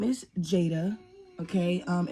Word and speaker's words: Jadea: um my name is Jada okay um it's spelled kind of weird it's spelled j a d e a um but it's not Juda it's not Juda it's not Juda it's Jada um when I was